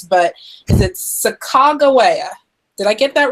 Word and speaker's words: Sacagawea: I read your book that there were multiple pronunciations, but is it Sacagawea? Did I get that right? I think it's actually Sacagawea.